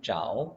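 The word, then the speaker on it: 着: 라고 많이 일을 하지만 여기서는 짜오 라고 발음해 주셔야 되구요 슈에무라 없다고 하게 되면 잠을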